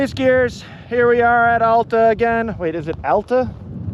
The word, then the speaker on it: Alta: wait is it Alta Joe says ala like altitude I've always said ala but I don't know if it's a pronunciation thing more than an accent you know Noah noaty got mad at me for saying Ulta I said I don't